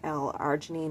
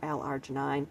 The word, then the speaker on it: L-arginine: It could be pronounced either L-arginine or L-arginine, depending on where you're from or whatever.